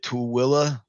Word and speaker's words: Tooele: And I'm Toolies, the Tooele area.